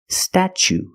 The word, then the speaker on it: statue: second or third syllable the t is pronounced chch like chicken and change chch so pronunciation statue statue for the first vow we use the short a like black cat sta then we use the CH sound stat statue for the second syllable we use the long o like Boot and moon ooh together statue this is the Statue